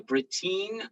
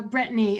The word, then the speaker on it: Brittany: and sunday all right uh britine i think that's how you say it britain britine how are you hi uh brittany actually can you hear me